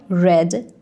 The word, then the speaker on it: read: Read has the same form in the past, but it's pronounced differently. It is read. I read a book last night.